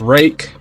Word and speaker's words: Ruike: rake R UI ke is apparently you know pronounced rake but uh I mean I've been calling them Reich until I really looked into this particular knife